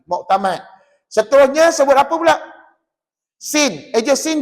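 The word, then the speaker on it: سين: bibir buka pasal apa ejaan Sin Sin ya Nun hurufnya di hujung adalah Nun maka Tuan Puan tak boleh S tak boleh kalau SIM salah dia kena Sin sebut berapa harakat J enam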